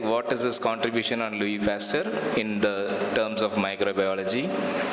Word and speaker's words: Louis Pasteur: So it is not Louis Pasteur. You should say Louis Pasteur because of the French term, the last syllable doesn't always come.